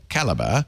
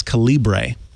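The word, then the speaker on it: calibre: caliber but since middle school I have always pronounced it in my head as Cali and then I don't remember who it was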